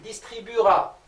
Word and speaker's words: distribuera: Pour distribuer, qui se termine avec UER, on aura il distribuera. Le E, on ne l'entend pas.